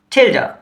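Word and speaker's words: tilde: इसे हम कहते हैं थिल्डर। तो आइए थोड़ा सा चिल्ड हो के मतलब बताता चलूं। हम इसे इस तरह से स्पेल करते हैं। टी आई एल डी ई और प्रोनाउंसिएशन बिलकुल डिफरेंट है।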